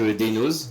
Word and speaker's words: Deinoz: Avec Daynos. Je prononce bien ton pseudo, je sais pas.